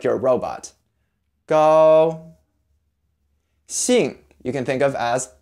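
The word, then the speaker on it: 兴: mix between s and SH in English but again clench your mouth tongue forward it's a tighter sound see and the rest of the word you can think of as Yee and G so II mm see II mm sing and stay with a falling tone sing go sing three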